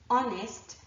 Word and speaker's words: honest: you before honor our honest and air are actually the four words that I can think of and their derivatives where there's an H but it is not pronounced Okay so we've looked